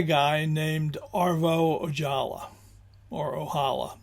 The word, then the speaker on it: Ojala: Uh, I think it might be Ojala, uh, which would be, I think, the Finnish pronunciation, but I'm sure some Finns can set me straight on that.